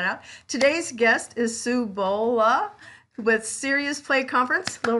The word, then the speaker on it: Bohle: it a shot sue i know it's not bole because i think you taught me that it's sue bol bola well today's guest and